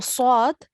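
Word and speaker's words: صاد: So the swad, the swad is pronounced thick.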